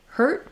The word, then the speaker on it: hurt: going to be longer hurt because it ends with the T my vowel is going to be shorter so let me get